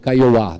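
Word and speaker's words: Kaiowá: é da Marilu cabañas caiu Caiuá na verdade que se fala pronúncia correta e a menção Rosa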